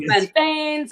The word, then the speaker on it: plantain: We can I want some plantains. I want some rice and beans. Wait, whoa! You said plantains. See, plantains. Our jerk chicken comes with plantains. We say Jamaicans pronounce it plantain.